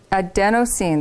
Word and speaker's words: adenosine: Adenosine, that's how you say it, is both a chemical found in many living systems and in a medication.